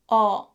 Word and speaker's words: 어: And then your tongue should be positioned toward the back, not front, back. And the height should be a bit lower than the middle. Around this position and pronounce 어. Okay? 어. This sound is similar to the pronunciation 어.